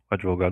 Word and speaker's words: advogado: Realmente, advogado não tem demudo.